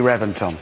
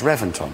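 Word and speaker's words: Reventón: a v Reventon no I know it's spelled with a V but it's pronounced with a B why don't know they've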